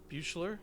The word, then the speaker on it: Buechler: And I did want to talk a little bit about the director, John Carl Buechler.